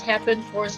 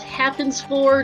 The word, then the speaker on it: Hapenfors: also before you ask it is happen force in the challenge is how you pronounce those two names not happens for not happens force it's happened fours yeah i i feel